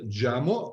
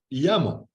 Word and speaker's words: Jamo: And these speakers, you said Jamo, are actually called Yamo.